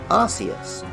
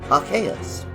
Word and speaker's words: Arceus: so on for a long time most people pronounced it Arceus which was especially funny in the UK where